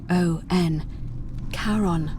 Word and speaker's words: Charon: Only you're pronouncing... It was C-H-A-R-O-N. Charon, the ferryman of the dead.